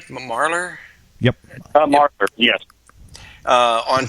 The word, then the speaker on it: Marler: We have uh. Am I pronouncing that right? Marlor.